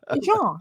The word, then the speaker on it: Jean: Jean. It's not that hard to say. No, once you can pronounce it, and it's always with French.